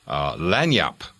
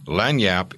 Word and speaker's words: lagniappe: used to use this phrase LAN yup and for those of you who are just listening and not reading along LAN Yap is spelled la G n IA PPE and if no one